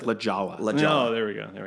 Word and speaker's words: La Jolla: way to La Jolla La Jolla okay it's pronounced lajawa oh there we go there we go but